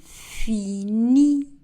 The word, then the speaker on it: finis: Je finis. Le S dans le verbe fini n'est pas prononcé.